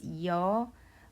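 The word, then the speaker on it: ㅑ: This is pronounced as ya by combining the semi-vowel sound of e with the vowel of ah. E plus ah makes ya.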